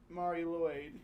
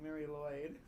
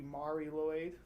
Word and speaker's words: Mari Lwyd: A historian in Wales uh was pronouncing it Mari Mari Lloyd. Yeah, that's what I I thought it sounded like when that we listened to the pronunciation guide. Mary Lloyd or maybe Mari Lloyd. Ma like a ma in the beginning of it.